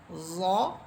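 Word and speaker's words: ظ: সেটা হচ্ছে প্রথমে হচ্ছে জ, এটাকে অনেকে জোয়া বলেন, এটা ভুল, বরং হরফটি হবে জ। আমি যদি জিহ্বার আগা সামনের উপরের দুই দাঁতের আগার সাথে লেগে এইভাবে উচ্চারণ করি, তাহলে দেখবেন অনায়াসে আমার জ হরফটা উচ্চারিত হচ্ছে।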